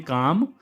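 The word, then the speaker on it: calm: काम, इसमें L silent होता है, काम शांत।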